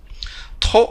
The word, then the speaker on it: trop: c'est un mot invariable trop on ne prononce pas le thé finale avec l'adverbe trop on ne peut pas prononcer le p on ne peut pas